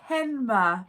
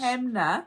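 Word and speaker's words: Hanmer: that it's not him it's henma henma in case you didn't know if you're from new zealand springs not hamner i've never heard anyone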